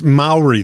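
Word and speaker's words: Māori: Um, I think his name is pronounced Cir Caia. Okay. He is an indigenous, it's an indigenous Mayori name.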